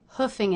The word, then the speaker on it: hoofing: I overslept note that the double O here is pronounced as the uh vowel just like cook book and Brooklyn straight from the horse's